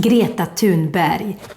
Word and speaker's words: Greta Thunberg: Greta Thunberg.